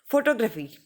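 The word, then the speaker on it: photography: ये तीन सिलेबल हैं, तो हमको जोर डालना है जो है फर्स्ट सिलेबल पे। ठीक है। फोटोग्राफी, फोटोग्राफी, फोटोग्राफी।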